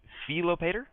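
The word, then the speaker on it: Philopator: should be an e so it should be felopater the a should be like ah so fop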